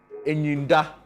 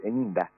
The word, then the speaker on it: Enyinda: Is it like Enyinda, right? No, my you are pronouncing it in Asante way. Mine is fancy, so Enyinda.